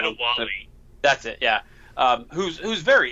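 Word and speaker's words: Adéwalé: I can't remember how to pronounce his name. Adawali.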